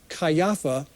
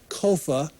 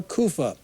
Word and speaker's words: Caiaphas: it's probably Caiaphas however that last name probably shouldn't be pronounced cayapha it's probably Kofa or kufa we probably therefore don't